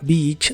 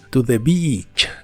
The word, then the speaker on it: beach: la playa la palabra Beach siempre se pronuncia con una I larga y doble que suena muy clara Beach no la pronuncies